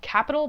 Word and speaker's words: Qapital: Fargo I have an app called Capital but it's spelled with a Q so sometimes I call it capital ignore that and